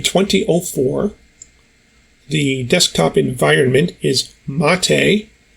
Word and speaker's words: MATE: the desktop environment is mate' rhymes with latte and the window manager